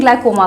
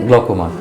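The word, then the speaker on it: glaucoma: बात करते हैं ग्लाइकोमा का। आई थिंक मैं इसकी सही प्रोनाउंसिएशन कर रही हूं। ग्लाइकोमा कहते हैं ना सर। ग्लकोमा। ग्लकोमा।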